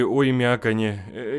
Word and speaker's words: Оймякон: Или Оймяконе. Я не знаю, как правильно. Сейчас загуглю. Оймякон, все правильно я с первого раза прочитал. Хе-хей. Зато теперь мы все знаем, как правильно произносится Оймякон.